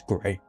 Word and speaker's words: Graeae: Just pronounced as Grey.